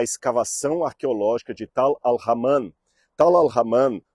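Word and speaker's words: Tall el-Hammam: Tal al-Haman, ou Tal el-Haman, alguns pronunciam Tel el-Haman, não importa aqui, é, segundo alguns especialistas, o sítio arqueológico da antiga cidade de Sodoma.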